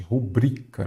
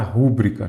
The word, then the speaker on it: rubrica: temos uma palavra paroxítona cuidado muita gente fala ah rúbrica não é rubric rubrica Então nesse caso tem